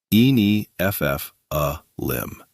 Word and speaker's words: Nephilim: Pronunciations. Nephilim. En FF lim.